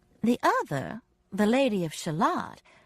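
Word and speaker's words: Shalott: other the lady of shalot whose name just happened to rhyme with Camelot and Lancelot was much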